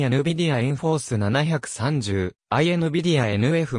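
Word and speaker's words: nForce: ことであるなお日本では n 4th と発音されるが英語では in force と同じ発音である 2006 年に ati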